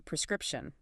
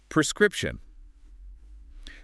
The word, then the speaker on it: prescription: It's a prescription. Correct. Prescription. This is a tricky word to pronounce for some people. It has that consonant cluster at the start.